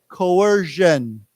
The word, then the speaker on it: coercion: we say it together coer coers coercion Co that's a j sound Co coercion Co okay